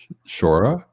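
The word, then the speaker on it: Brora: or closed dead distilleries that rhyme with horror. Yeah. So that is special to me. Shora?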